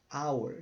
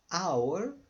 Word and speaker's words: hour: h nesta palavra our hour de hora o h não é pronunciado se ficou só Hour o h não é